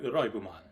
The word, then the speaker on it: Liveman: Hello, Brian the Fanboy here, and today I'm going to review Choujuu Sentai Raibuman. Well, actually, it's written as Choujuu Sentai Liveman, but I'm going to say the way it's pronounced.